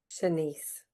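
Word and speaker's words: Shanse: Senise.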